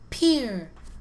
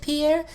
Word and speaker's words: Pierre: way to do it the capital of my home state is pronounced peer like doc your peer a doc your boat at the pier it's spelled like pierre do we pronounce it pierre new if you pronounced